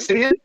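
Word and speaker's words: Siemian: Simeon?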